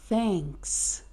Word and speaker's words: thanks: Essa palavra aí, obrigada, é pronunciada thanks. Então perceba que para produzir o som do th, nós precisamos colocar a língua para fora, então nada de sentir vergonha, porque é assim mesmo que é pronunciado.